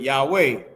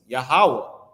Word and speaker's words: Yahawah: But right down here, the proper name of the deity, they put Yahweh. No, it's Yahawah.